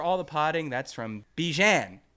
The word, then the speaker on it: Bjan: That's from Bjan. Rhymes with man. Bjan with a B. Uh, in Bravo. Yes. And a J. Okay. Bjan. Bjan. No, Bjang. Unless you say man.